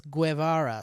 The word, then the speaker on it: Guevara: of working with someone try pronouncing my last name without the you sound imagine it's silent or not it's your show anyway I want to is it so he's saying so it's Guevarra so take out the